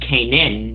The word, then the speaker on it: kainon: steal that name and apparently it's actually pronounced came in but I figure you